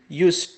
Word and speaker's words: use: Notice here S, it is pronounced Z, particularly in simple present.